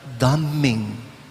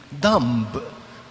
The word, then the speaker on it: dumb: more and more stupid dumbing not damning but dumbing dumb d-u-m-b dumb silent b making people more and